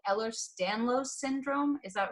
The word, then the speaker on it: Ehlers-Danlos: But I've talked about health issues I've dealt with and stuff, and you deal with something called Ehlers-Danlos syndrome.